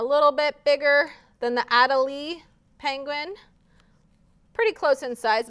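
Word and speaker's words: Adélie: little penguin is called adelaide so it's an adelaide penguin on snow he can walk or slide on his belly adelie belly i guess it's pronounced adelie all right do you guys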